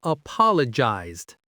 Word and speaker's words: apologized: Another important word is apologized. This means to say sorry. Apologized. The stress is on the second syllable.